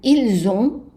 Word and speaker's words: ils ont: The S is pronounced as a Z, the T is silent. Ils ont. And the N is not voiced 100%, it's just so it's a nasal.